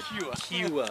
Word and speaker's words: Kua: As an Italian, I want to make sure you pronounce that name right. Kua.